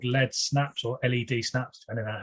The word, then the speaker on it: LED Snaps: uh but it's spelled led snaps but it's pronounced on lead snaps um we are a lighting company that's been